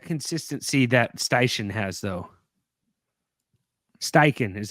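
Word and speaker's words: Steichen: they have that consistency that styan has though styen is how you say it wait am I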